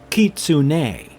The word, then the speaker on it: Kitsune: So the pronunciation for Kitsune would be Kitsune, because most of the accents on the cosmic horror names are at the end.